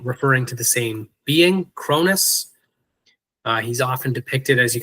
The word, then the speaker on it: Cronus: His name is Cronus, or sometimes pronounced Kronos.